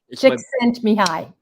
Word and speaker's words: Csikszentmihalyi: So, that flow state from Michael Csikszentmihalyi, I think is how you pronounce his Hungarian's name. Csikszentmihalyi. Csikszentmihalyi. Csikszentmihalyi. Hi, Csikszentmihalyi. He told me how to say his name, otherwise I'd never know.